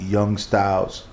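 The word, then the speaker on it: Young Stylzz: Not like, and this particular song is from an artist called Young Styles from East New York, Brooklyn.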